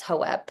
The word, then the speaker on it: Hope: And during the animal reading, my horse Hope was saying, she's the one that said it's pronounced as Hoep.